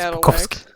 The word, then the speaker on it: Bukowski: It's Bukowski. I don't know. That. If you're Polish, it's Bukowski. I'm if you're anyone very else, it's not Bukowski. Polish.